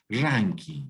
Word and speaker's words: Rankine: Ranking, sí, correcto. Se escribe Rankine por si acaso, porque está en inglés, pero se lee ranking, ¿no?